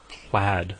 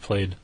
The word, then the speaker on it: plaid: is pronounced paid but you put that L and it's it's pronounced plaid instead of played right what's wrong with